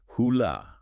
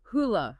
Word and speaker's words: Hole: And remember, the Norwegian pronunciation is closer to Hoola. Hoola.